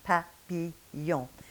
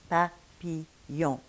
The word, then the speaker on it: papillon: less puffiness coming at papillon, pa, pi. Now the next sound we have is y, the semi-vowel y that you have in yes or in il y a, papillon, papillon.